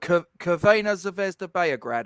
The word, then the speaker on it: Crvena Zvezda Beograd: They're called no, Crvena Zvezda Beograd, I believe, is the local pronunciation.